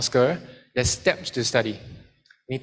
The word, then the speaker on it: SQ3R: The SQ3R, tapi the way you pronounce it is called SCR.